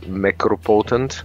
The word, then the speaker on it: Mechropotent: Mechropotent. It's like Necropotent, but Mechropotent.